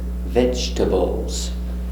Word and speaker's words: vegetables: Z, vegetables. Remember, vegetables. No e, no veggie, vegetables.